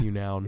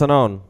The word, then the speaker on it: Unown: but there's no in there's no K in it yeah so it's Unown this is something that